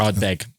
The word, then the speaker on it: Ardbeg: I'll just correct Ardbeg. Well, you know me. I'm never going to pronounce anything right.